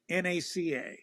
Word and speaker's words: NACA: and by the way it's always NACA not you never you never pronounce it as a word okay and you once it flips never pronounce the letters okay it's always NASA